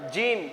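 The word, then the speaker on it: جيم: হবে না সার মাখারিজ হবে না তারপরে আসুন জিম জিম আমরা জিম জাল জার উচ্চারণ একই করে দেই জিম জাল জ এই সমস্ত কিছু উচ্চারণ আমরা একই করে দেই কিন্তু আমাদেরকে পার্থক্য করতে হবে এই দেখুন জিম আছে এখানে জিম জিমকে মোটা করে পড়তে হবে।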